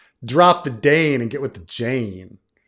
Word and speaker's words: Dayne: Jane rhymes with Dane.